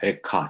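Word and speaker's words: איכה: 에카 히브리어로 에카인데 말로 시작해서 헬라와 분역인 70인경을 따라서 에가라는 이름이 주어졌죠. 우리말로는 슬플 애자를 써서 슬픈 노래라는 의미로 애가 되었지만 히브리 발음으로 놓고 보면 에카예요.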